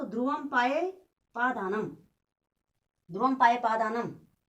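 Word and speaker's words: ध्रुवमपायेऽपादानम्: लिखा है ध्रुवम पाये, जो अवग्रह है इसका उच्चारण नहीं करना है। ठीक है ना। तो ध्रुवम पाये पादानम, ध्रुवम पाये पादानम।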